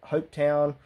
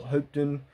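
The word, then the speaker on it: Hopetoun: he was appointed by lord hope town or hoopton however you want to pronounce it and it was famously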